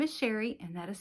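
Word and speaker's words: Chere: My name is Sherry and that is spelled C H E R E. It is spelled a little fancy but pronounced plain Sherry.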